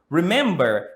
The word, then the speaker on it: remember: Remember has 3 syllables. Remember. And the stress is on the second syllable.